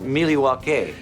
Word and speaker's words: Milwaukee: National Convention in Milwaukee Wisconsin folks actually it's pronounced milwa we will have exclusive podcast coverage social media